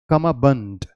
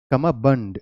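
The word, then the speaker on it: cummerbund: का आपको ध्यान ना है ये क्या है कम बंड कम बंड इट्स ड इट्स not Dubai it's Dubai उसी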